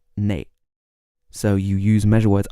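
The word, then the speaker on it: 哪: words after which and the word for which is normally na which can also be pronounced nay in parts of North China if you wanted to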